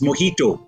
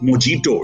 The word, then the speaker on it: mojito: Similarly, when people try to pronounce slightly complicated words like a drink, which is mojito, it's not mojito, right?